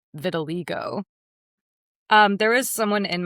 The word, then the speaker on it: vitiligo: Blind to have vitiligo. Vitiligo. Yes. Oh, okay. Wow. And I also know how to pronounce vitiligo now cuz I always read it and thought it was vitiligo.